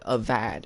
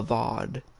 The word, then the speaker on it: Avad: sun king's name wrong he said a vad it's not a vad it's a vaude i don't understand why